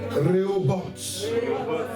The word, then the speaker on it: Rehoboth: Faut pas mal prononcer, hein, parce que tu peux dire Roger ou bien je sais pas moi. Rehoboth.